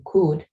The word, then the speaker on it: could: La L es muda en este caso, ¿sí? Could. Entonces, cada vez que ustedes pronuncien could, no van a pronunciar la L, sino sería solamente could.